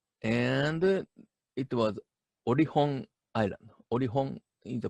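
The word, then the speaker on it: Olkhon: Orihon is the pronunciation, Orihon Island.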